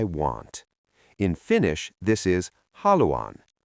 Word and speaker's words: haluan: This is haluan.